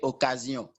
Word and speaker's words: occasion: So the very first word is O-C-C-A-S-I-O-N. We have the same word in French, and in French we say occasion. But if you come in English, you pronounce it occasion.